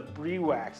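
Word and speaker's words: Briwax: easy easy to fix this is a brie wax it's spelled bribe ax but I'm gonna use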